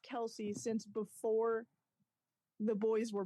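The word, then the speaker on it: Kelce: their father Ed Kel's Kelsey it's pronounced one syllable kelse however tired of correcting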